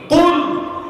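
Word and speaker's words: قل: কুল। এটা কফ উচ্চারণ করতে হবে।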